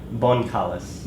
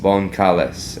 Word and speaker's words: Boncales: you're the last night my last name bonkalis bonkalis and that's exactly how it's spelled so with two